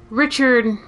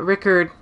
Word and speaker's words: Rickard: best mushroom crown uh well richard uh rickard uh he's in i think ds1 ds2 um he is in all three echo night games and then there's this game which is spelled right card this is the npc